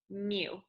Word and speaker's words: mu: But if we knew the population mean, it would be this symbol right here, which is pronounced mu.